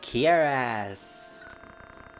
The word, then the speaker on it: cuirass: It's pronounced Kiras.